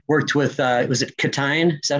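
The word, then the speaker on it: Ctein: co-writers how you worked with uh was it catin is that how you say his name yes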